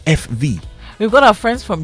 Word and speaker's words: VW: or something like that they have a a way of pronouncing F in Germany okay so they actually call the VW FV oh instead of VW because they pronounce v as F and they Pronounce W as V so they call the car FV we've got our friends